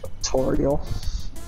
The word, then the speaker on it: Toriel: Like it's Ariel, like, but it's Tor? It's like tutorial. Ew, nigga. Toriel.